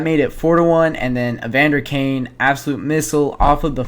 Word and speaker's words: Evander Kane: Draisaitl gets the primary assist on this one as he wins the face-off towards Evander Kane, that's how you pronounce his name.